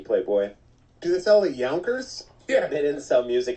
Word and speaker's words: Yonkers: It's There's a U in there. Yonkers. Give the U the respect it deserves.